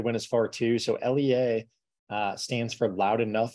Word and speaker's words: LEA: with it a lot of people call us Leah or Leia you know it really doesn't matter to us we we do pronounce it Lea um we today we're going